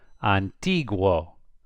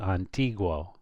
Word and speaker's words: antiguo: Antiguo, because it's G-U-O. If it's G-U-O, you pronounce the U. Antiguo.